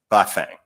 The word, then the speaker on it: Bafang: And the reason we're really here, the crux of the matter, is a two-syllable Chinese name, Bafang.